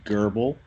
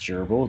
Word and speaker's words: Gerbil: And my character's name is Gerbil. It's not pronounced gerbil, it's Gerbil.